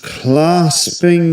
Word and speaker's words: clasping: So was clasping the was clasping. Clasping. That's a long r sound as in words such as um bar or even star.